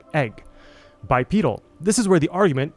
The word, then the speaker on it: bipedal: When you add the suffix to make it an adjective, the stress shifts to the second syllable and the e transforms into a long e sound.